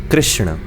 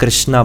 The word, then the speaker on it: कृष्ण: ण जैसे रावण या कृष्ण। हालांकि आज की डेट में उनके नाम को हम कृष्णा बोलते हैं, बट शुद्ध प्रोनाउंसिएशन की अगर बात करें तो वो कृष्ण शब्द है।